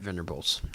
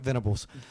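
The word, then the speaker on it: Venables: I think it's a tie between Sam Pitman and Brett Venbables. I always say his name wrong. Brett Venibals. Brett Venibals.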